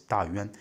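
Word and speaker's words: 大宛: Dawan. Or some people pronounce it as Dayuan.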